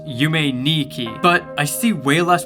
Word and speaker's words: Yume Nikki: point out in that the number two is pronounced knee in Japanese meaning that the name yumetuki is actually pronounced you may Niki but I see way